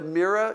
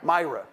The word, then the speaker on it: Myra: We did see Grand Forks, the Mira, is that how you pronounce it? Myra.